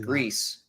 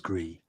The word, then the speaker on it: Gris: They said, for people that wonder, Grease is pronounced Grease, Grease, and means gray in Spanish, French, and Catalan or Catalan. So see, but to me, it sounds better as Gree.